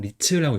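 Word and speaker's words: 律: 그다음에 이름 같은 경우는 이제 법칙률을 써 가지고 리츠라고 그래서 이거는 음독으로 쓴 거 알 수 있죠?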